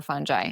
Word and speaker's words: fungi: Do you pronounce it fungi or fungi? You know, one of my closest friends and an amazing writer um Patricia Cashian um says you can she's a micologist. She says you can pronounce it fungi or fungi and both are correct.